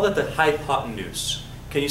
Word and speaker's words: hypotenuse: say hiot hot H hi Papoose no not high Papoose we have no papes hi pot and hypotenuse looks like hypotenuse like the pots in use but no what's happening there the hypotenuse is how you say that word hypotenuse is defined as